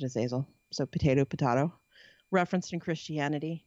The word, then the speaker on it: Azazel: Another name that you might recognize is Azazel or Azazel. I pronounce it Azazel.